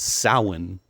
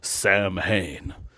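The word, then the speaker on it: Samhain: Even though he mispronounces sin and says Sam Hayne.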